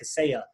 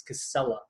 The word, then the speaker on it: Casella: and two else but not pronounced Spanish like casaya it's Casella and we also have